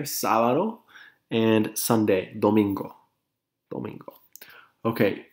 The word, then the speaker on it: sábado: Monday in Spanish is lunes, Tuesday, martes, Wednesday, miércoles, Thursday, jueves, Friday, viernes, Saturday, sábado, accent on the A there, sábado, and Sunday, domingo, domingo.